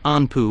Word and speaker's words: Anpu: the symbolism belonging to the god Anubis whose pronunciation and writing in Egyptian hieroglyphics is anpu or inpu note the similarity with